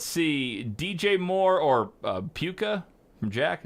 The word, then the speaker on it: Puka: DJ Moore or uh puka from Jack is it puka or puka like the shells poop yeah he plays